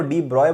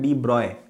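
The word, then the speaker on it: de Broglie: तो उसने ये बोला उसको डी ब्रॉय बोला जाता है। उसकी स्पेलिंग होती है डी डी ई ब्रोगली। लेकिन उसको प्रोनाउंस करते हैं डी ब्रॉय।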